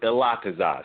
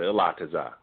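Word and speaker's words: Ilatazah: Yeah, it's Elatazah, sis. That's how you pronounce it, Elatazah.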